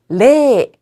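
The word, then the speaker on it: れい: 0은 레 혹은 영어의 제로라는 표현을 사용하고 있습니다.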